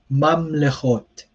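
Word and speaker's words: ממלכות: Um, and then this double shva in the middle of the word, the first one is silent, the second one is vocal. So here it's mamlechot. So mamlechot. So the first one is silent, as you see, mam, and then le chot. And of course, there's a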